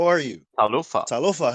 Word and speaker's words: talofa: tal you replace the you replace the H with the F and then you add a t at the beginning tal right okay can you pronounce it like proper tal tala talofa how are you tala